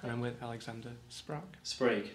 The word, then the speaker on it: Sprague: production of Katya Kabanova, which I hope I pronounced correctly. Perfect. And I'm with Alexander Sprague. Sprague. Sprague, oh right, so it's not like Prague with an no, S.